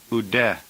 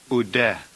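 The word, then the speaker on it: οὐδέ: the negative particle U and the conjunction de pronounced UD UD number 41 uranos it's a noun uranos we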